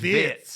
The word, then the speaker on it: Wirtz: And he said, Florian Wirtz, wrong. But it's never Wirtz. been. It's Wirtz.